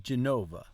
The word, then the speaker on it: Genova: Vivo a Genova. Abito a Genova, ma viaggio spesso per lavoro. Abito a Genova, ma viaggio spesso a lavoro. The letter G in Genova is pronounced like the G in Viaggio.